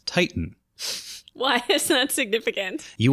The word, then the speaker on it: Titan: called the Titan, and it's pronounced in Japanese Titan.